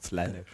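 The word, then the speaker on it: Slaanesh: letztes kommt der fiese slanis slanis amerikanisch ausgesprochen slanis erhalte drei Siegespunkte ein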